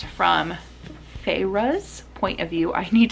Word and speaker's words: Feyre: always want to say Freya, but it's Feyre. I always want to say the name wrong.